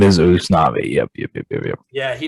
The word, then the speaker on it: Usnavi: Instead of U.S., it's us, and then instead of nay, it's na. So I mean, he's close, but Usnavi.